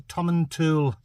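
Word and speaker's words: Tomatin: wasy this is the tommen tool it's spelled t to but I think it might be a silent te might just be Tom and T laugh if I'm wrong dingo man dingles correct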